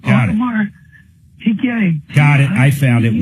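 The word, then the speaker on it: Audemars: Automar. A U D E M A R S. Got it. The S is silent. Automar.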